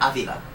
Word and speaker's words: Avila: It's not actually complicated, but you can't, it's Avila, by the way, or Avila, which would be the correct way to pronounce it.